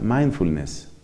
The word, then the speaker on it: mindfulness: se cita en inglés se escribe 1000 de funes y se pronuncia mindfulness mire mindfulness es lo